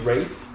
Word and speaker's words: Ralph: His name's Rafe. Is it Rafe? Yeah. It's spelled Ralph.